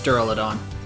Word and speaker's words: Duraludon: They haven't said given pronunciations yet, but it's based on Duraluminum, so I'm guessing it's Duraludon.